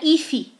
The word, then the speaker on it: if: Não é if, é if, tá? Cuida porque não tem vogal ali depois do F, tá? If. O F é mudo.